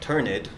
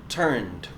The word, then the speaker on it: turned: tense it looks like turn it but we don't say turn it we pronounce it turned turned with a D sound at the end with expect and explode